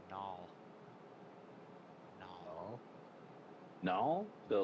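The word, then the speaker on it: gnoll: No, it's null.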